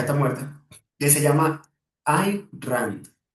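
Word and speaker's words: Ayn Rand: Hay hay una filósofa, bueno, yo creo que ya está muerta, que se llama I Rand. Ya se escribe a Y n rand, como suena.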